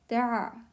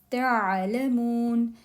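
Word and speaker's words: تعلمون: So when you say this Ain with jazm, with sukoon here, do pronounce it. Don't say it's not Hamza, it's Ain. Ta'alamun, you will know.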